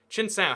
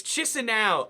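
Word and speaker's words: Chișinău: Chinsau, how do you spell it? It's Chisinau. Oh no, I thought it was Chinsau, but it's Chisinau.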